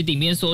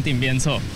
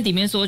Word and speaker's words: 鼎邊趖: 我还是会讲顶边错。